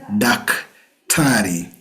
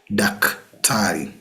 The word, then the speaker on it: daktari: We have daktari. Daktari, which is borrowed directly from the doctor in English. Daktari or madaktari. So if you want to see a doctor, you say daktari.